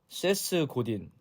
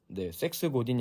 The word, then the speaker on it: 세스 고딘: 보도록 하겠습니다 오늘 책은요 세스 고딘 섹스 고딘이 아니라 세스고디 발음 잘하셔야 돼요 SS 고딘이 쓴 마케팅이다라는